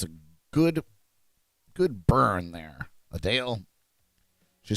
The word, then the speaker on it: Adele: I'm sorry, Adele. Adele is how you pronounce her name. We found that out.